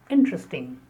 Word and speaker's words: interesting: The next word is interesting. Interesting. That's an interesting topic. The stress on the first syllable. Interesting.